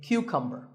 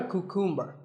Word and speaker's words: cucumber: couple of vegetables now this is a cucumber it's not a cuckoo mer think of it like